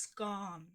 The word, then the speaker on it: scone: Oh, scon are pronounced scone.